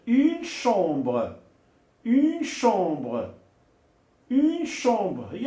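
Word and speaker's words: chambre: بالنسبه للسي مع اش. الوغ السي مع اش كيتنطق بالش. الوغ الا كانت لا كونسون اش جايه من بعد السي كيتنطق الش. اون شومبر.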